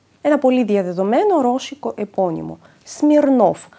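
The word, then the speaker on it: Смирнов: ραμνα ένα άλλο επώνυμο σμιρνόφ ένα πολύ διαδεδομένο ρώσικο επώνυμο σμιρνόφ στο τέλος επίσης ακούμε ένα φ σμιρνόφ εδώ το ο τονίζεται και το ακούμε καθαρά ως ο σμιρνόφ και σε όποιο άλλο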